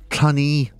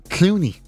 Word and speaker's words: Cluny: Cluny. Some people think it's Clooney. Like George.